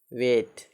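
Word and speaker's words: weight: Next देखिए, rule है, जब किसी वर्ड में ई आई के बाद जी एच जी एन हो तो ई आई का उच्चारण ए होता है।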